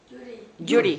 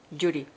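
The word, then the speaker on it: Gyuri: Judy. Judy. How do you spell that? G-Y-U-R-I. Judy.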